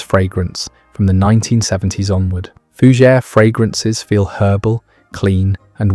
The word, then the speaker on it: fougère: Fougere, pronounced fougère, means fern in French, though these fragrances do not actually smell of fern.